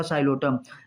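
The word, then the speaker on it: Psilotum: साइलोटम। Spelling बेटा P silent है।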